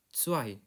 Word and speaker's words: zwei: Z dibacanya huruf TS atau C. EI dibacanya I, zwei.